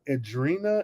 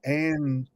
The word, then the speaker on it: Andwina: I was calling her Adrena. It's Andwina.